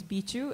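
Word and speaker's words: Bihzhu: Okay, my name's Bichu, and it's spelled B-I-H-Z-H-U.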